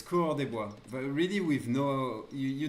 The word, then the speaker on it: coureur des bois: bit of French, but I know it's coureur des bois, and that's how you should pronounce it. But coureur des bois, for the rest, actually, really, it's about not tryharding with the accent.